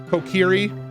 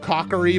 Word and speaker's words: Kokiri: there's a lot of other favorite like Zelda mispronunciations that I hear a lot Kokiri I've heared Cocker E before and I'm like meet